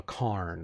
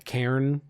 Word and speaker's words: cairn: to you of of a carn of a a Cairn is how you pronounce it um of a tomb